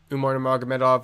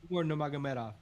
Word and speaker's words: Umar Nurmagomedov: Merab Dvalishvili, Umar Nurmagomedov, we already broke it down.